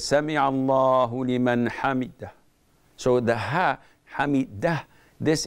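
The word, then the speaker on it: سمع الله لمن حمده: the imam, after saying Sami'a Allahu liman hamidah, he doesn't say it correctly. He says Sami'a Allahu liman hamid.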